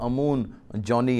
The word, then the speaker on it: Amoon Johny: मैं इनके नाम की इस्लाह भी करना चाहता हूं, मैंने शायद पहले गलत प्रोनाउंस कर दिया, लेकिन इनका सही नाम जो है पास्टर अमून जॉनी है।